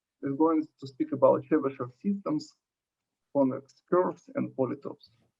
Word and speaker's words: Chebyshev: compare his his name Chebyshev, this the CH, it is a Che, Russian just one letter, as well as SH here, it is also Russian She, pronounced like She, right?